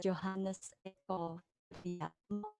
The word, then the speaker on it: Johannes Eko Priyatma: Johannes Eko Priyatma. That's how we pronounce his name.